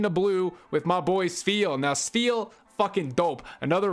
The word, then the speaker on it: Spheal: His name's hard to pronounce. Spheal. It's like an F. Spheal.